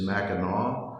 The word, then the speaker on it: Mackinac: to pronounce it and the correct pronunciation is Mackinaw but I have a